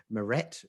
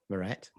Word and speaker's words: Maret: Anyway, enough about the mouthfeel of your beautiful surname, Mirette. Yeah. Also, and in honor of Mirette, and to remind me how to pronounce her first name, I'm eating amaretto biscuits with my Bristol hipster coffee here.